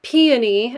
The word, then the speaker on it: peony: raven seductive pairing of peony and or peony as some people pronounce it and patchouli white blonde